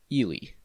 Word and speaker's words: Ely: of eureka lies ely yes spelled e-l-y and pronounced ili finally another city whose population that is 3924